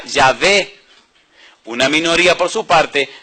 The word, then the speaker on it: Yahvé: La mayoría de los eruditos hebreos opinan que la pronunciación de las consonantes YHWH era Yahvé.